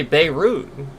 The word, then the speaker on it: Beirut: No, we say Beirut.